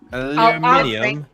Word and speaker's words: aluminium: or my YouTube Somewhere I can't pronounce it the way British people do aluminium aluminium aluminium aluminium but it turns out on their boxes it actually says aluminium and on our boxes it says aluminum it's spelled differently so